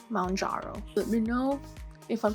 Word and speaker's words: Mounjaro: I was saying Mounjaro before, but then when I watched like the instruction on how to take it, I heard Mounjaro, like mountain, Mounjaro.